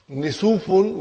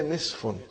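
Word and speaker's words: نصف: Instead of saying, brother and sister, instead of saying Nisufun, we say Nisfun.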